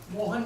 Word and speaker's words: Mohan: Mohan. Can you please spell that?